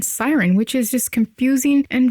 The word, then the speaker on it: SYRN: I pronounced it like SYRN, that laboratory somewhere in Europe, you know the one, and it takes a moment to realize it is a play on Siren, which is just confusing and very unnecessary.